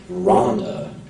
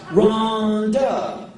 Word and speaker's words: Rhonda: And you didn't say it like Rhonda, like, help me, Rhonda. Rhonda was, Rhonda!